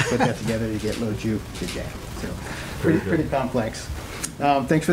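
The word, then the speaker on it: Lo Giudice: My last name is pronounced Lojupje, so the easy way to remember it is Lo, because I'm short, Jew, and Jewish, and then DJ, like a music DJ, so you put that together, you get Lojupje.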